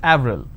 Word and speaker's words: Avril: it's a month right in french it's pronounced it avril the name clement is